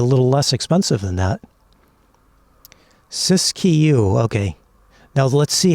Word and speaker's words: Siskiyou: Siskiyou, okay. Now let's see how many minutes I can remember that. But that's the correct pronunciation. Okay. Siskiyou.